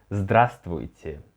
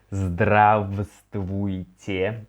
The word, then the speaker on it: здравствуйте: Actually, if we will read it like letter by letter, it would be здравствуйте, but no one says it this way. Here I just noted the transcription. We say it like здравствуйте, so it seems that we remove this v.